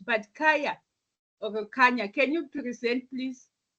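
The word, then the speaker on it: Kanya: know how you pronounce is it ka yeah because there's no h but Kaa or can you present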